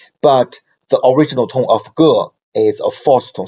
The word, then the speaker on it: 个: Okay, and the Ge, its original tone of Ge is a fourth tone syllable. But in spoken Chinese, we always pronounce Ge as a neutral tone.